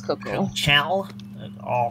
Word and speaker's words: Kuchel: I think it's Kuchel. I know it's Kuchel.